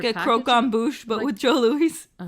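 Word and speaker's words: croquembouche: Croquet bouche? It has an M in it, Mom. Right there. M.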